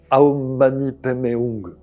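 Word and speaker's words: Om mani padme hum: Les les les bouddhistes expriment bien ça à travers le le fameux mantra aomani pemeung. Ça c'est prononcé façon tibétaine.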